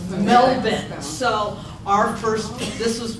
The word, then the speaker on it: Melbourne: correctly and that's because that's the way they pronounce it It's Melvin so our first this was when we went